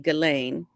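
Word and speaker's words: Ghislaine: up the photo with Gizelain. Is that how you say her name? Gain. Galain. Galain. Like Elaine, but with a G. Galain.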